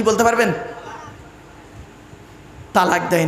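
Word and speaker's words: طلاق: শব্দটা কি বলতে পারবেন তালাক দেয় না শব্দটা কিন্তু তালাক নয় শুনে নিন শব্দটা তালাক নয় শব্দটা হলো তলাক কি বললাম তলাক ওর আরবি উচ্চারণ কি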